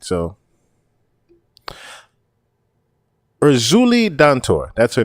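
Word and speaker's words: Erzulie Dantor: So Urzuli Dantor, that's her name. Urzuli Dantor.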